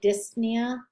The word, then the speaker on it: dyspnea: suffixes ema osmia nia remember with that pn you only pronounce the n nia tysis that's spitting again the p is not really pronounced it can be dyspnea or um i don't